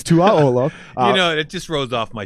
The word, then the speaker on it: Tuaolo: Esera Tuaolo. I just realized that I've been pronouncing your name wrong my entire life until I heard you the other day. I've been saying Tuaolo. And it's Tuaolo.